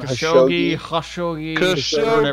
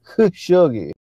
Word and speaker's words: Khashoggi: Khashoggi, man. Khashoggi.